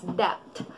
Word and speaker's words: debt: Ang iba, pagkakabigas nito is debt. Debt. Ang tamang pagkakabigas nito ay debt. Debt. Silent B. Hindi natin ipopronounce yung B.